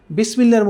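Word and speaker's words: بسم الله: বিসমিল্লাহর মধ্যে যারা আজকে নতুন আমাদের ক্লাসটি দেখছেন হয়তো অনেকেই।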